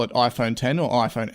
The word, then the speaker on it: iPhone X: x oh my goodness I keep saying iPhone x whenever I see it read and like I go to pronounce it that way but when I wrote some notes for this podcast I actually wrote it out as the number 10 to make I say it right but I have no